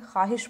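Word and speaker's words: خواہش: किसे कहते हैं जो जिस वाव को पढ़ा ना जाए सिर्फ लिखा जाए जैसे कि ख्वाहिश लिखा जाता है ना ख्वाहिश लेकिन हम इसको क्या पढ़ते हैं ख्वाहिश पढ़ते हैं ख्वाब लिखा जाता है लेकिन इसको हम लोग क्या पढ़ते हैं ख्वाब पढ़ते हैं ये जो वाव है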